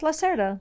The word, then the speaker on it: Lacerda: Wait, how do you say like Brazilian? You guys say that the R is like an H, right? No, Lacerda like is like, it's almost Italian. No, it's Lacerda.